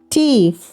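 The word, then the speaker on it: Tee: ഉദാഹരണം ടീഫ്. 2 എ വരുമ്പോൾ അതിൻ്റെ ഉച്ചാരണം എ എന്ന് വേണം ഉച്ചരിക്കാൻ. സേയിലെ എ എന്ന പോലെ. ഉദാഹരണം ടേ, ടേ.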